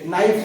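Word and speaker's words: knife: के हा सायलेंटचा झालाय जसं की नाईट आहे नाईफ पण आहे नाईफ चाकू तिची पण स्पेलिंग केला एफ नाईफ हे एस डब्ल्यू आय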